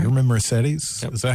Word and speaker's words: Mercedes: You remember Mercedes? Is that how you say it? Mercedes, yeah.